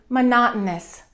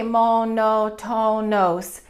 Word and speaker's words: monotonous: Number 1, monotonous. Monotonous. There are 4 O's in that word, so we don't say monotonos. We stress the second syllable, monotonous, and that O-U-S at the end gets reduced.